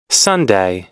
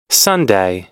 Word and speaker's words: Sunday: আমরা সানডে বলি, বাট প্রকৃত উচ্চারণ হচ্ছে সানডেই। সানডেই। মনে থাকবে নিশ্চয়ই। কি উচ্চারণ তাহলে? Sunday. Sunday.